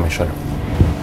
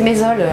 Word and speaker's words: Mézol: L'erreur est humaine, inspecteur Méchol. C'est Mézol, on prononce pas le H, je vais pas vous le dire 100 fois.